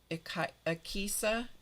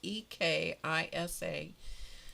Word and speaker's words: Ekisa: And they work in a on the mission field in Ekisa is the name of it, EKISA, and they work with people who have issues, physical issues.